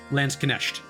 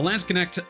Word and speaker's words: Landsknecht: So the Landsknecht, or Landsknecht, I think it's actually supposed to be pronounced. It's just at the end. It's not a sh.